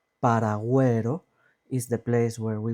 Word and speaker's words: paragüero: Paragüero, güero, we pronounce the U. And this is because on the top of the U, we have diéresis, these two little dots on the top of the U.